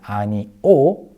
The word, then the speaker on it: 아니오: They sound exactly the same, 아니요 and 아니오. If you slow down in pronunciation, the second one is 아니오, but when you say it naturally, it's 아니요.